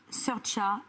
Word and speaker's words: Saoirse: It's Saoirse with an R, not Sarcy with an R, cause Sarcy with an R goes or not R. It's sh instead of s, instead of E, simple as can be, see Saoirse.